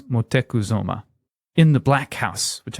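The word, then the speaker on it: Motecuhzoma: brought it to motekuzuma so that's montezuma but his they actually the way he pronounced his name was motekuzoma in the black house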